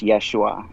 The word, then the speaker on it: Yeshua: The Yeusa is the origin of the name Jesus, and it means the ever-coming Son of God, and it's pronounced Yeshua in Hebrew.